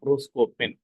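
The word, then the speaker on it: προσκοπήν: இதை எப்படி ப்ரொனவுன்ஸ் பண்ணா புரோஸ்கோபென் பேன். அந்த ஏட்டா, அதனாலதான் இ மேல டேஷ் போட்டுருந்தா இழுத்து சொல்லணும், லாங் வவல்னு சொல்லுவோம்.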